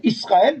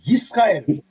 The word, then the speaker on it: Israël: Parce qu'on dit Israël, mais ça se prononce Yisraël.